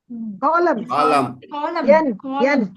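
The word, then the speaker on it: calm: பேசுனாக்க கொலோன்வாங்க ஜிய கட் பண்ணுங்க Cologne Cologne காலம் என்ன கட் பண்ணுங்க காலம் வெரி குட்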